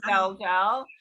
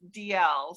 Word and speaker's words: Dalziel: So in America, we pronounce it Dalziel, Linda Dalziel. Oh, great. In Europe, the original pronunciation is DL.